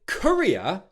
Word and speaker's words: courier: With Courier, the stress is on the first syllable.